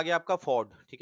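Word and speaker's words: fjord: अब आ गया आपका फॉर्ड, ठीक है, FORD। आई थिंक इसमें J साइलेंट हो जाता है।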